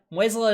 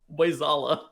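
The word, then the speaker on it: Mueh'zala: Muezela is like, it's That's not how you pronounce that word. What? Muezala.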